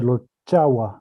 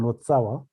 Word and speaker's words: Lotsawa: Okay, so here Kempo says Lotsawa. In Sanskrit or Indian languages, it was pronounced rather Lotchawa rather than Lotsawa.